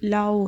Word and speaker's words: Laue: अब हम लाउज़ इक्वेशन, ये जो पहले मेलेस पढ़ी थी इसकी मैंने प्रोनाउंसिएशन देखी थी और ये लाओ है।